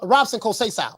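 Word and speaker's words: Robson Conceição: your boy received oh you say coach just pronounce um Robson kosea Robson call Cesar oh Robson kosai okay all right um yeah man he said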